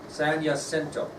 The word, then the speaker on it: San Jacinto: San Jacinto. Starts with a J, but it's pronounced Jacinto.